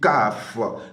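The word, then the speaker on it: כ: Et cette lettre se dit Kaf. Kaf s'écrit comme nous écrivons notre C, la lettre C.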